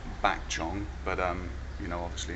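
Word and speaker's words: ปากช่อง: track via train via Pak Chong which is pronounced back John but um you know obviously in your guidebook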